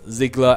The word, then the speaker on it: Ziegler: Zachary Ziegler said, thanks for answering my question, and my name is pronounced Ziegler as in zigzag.